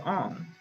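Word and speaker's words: Aang: important to the story the avatar the last airbender movie also changed the pronunciation of the characters names so they'd be more realistic sako was pronounced soka and ang was pronounced on how why make the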